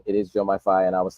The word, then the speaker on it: Diomaye: and I I do want to correct my pronunciation it is Jo myi and I was saying F earlier so apologies